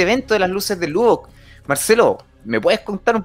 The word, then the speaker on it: Lubbock: ¿Está bien pronunciado, Marcelo? Sí, ¿Lubbock?